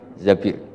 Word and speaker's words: Zabir: di di hadis ini bukan bacanya bukan Zubair tapi Zabir Abdurrahman Bin Zabir tapi